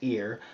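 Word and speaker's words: עיר: Now, the Hebrew noun ayar, pronounced ear, like the body part, is the word known for city, town, or permanent settling, but it is also the exact same word for watcher.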